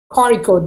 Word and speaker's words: Kozhikode: Like, what is the actual pronunciation of Kozhikode? Kozhikode, that is Kozhikode.